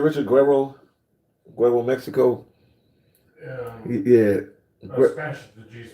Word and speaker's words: Guerrero: If you go to places like Guerrero, I'm saying it right, Richard? Guerrero, Mexico.